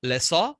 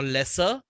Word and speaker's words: lessor: He will be called as the lessor or lesser. Okay. There are two types of pronunciation. So whatever you call it, lesser or lessor, whatever you are comfortable with.